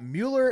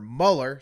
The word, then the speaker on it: Mueller: gonna do one about mueller investigation or Muller sorry investigate thank you well